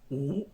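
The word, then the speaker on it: 辱: que significa humillar o insultar y que se pronuncia u.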